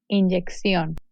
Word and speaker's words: inyección: The double C is pronounced X as in accent. Inyección, construcción.